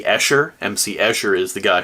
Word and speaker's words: Escher: Said MC Usher instead of MC Escher.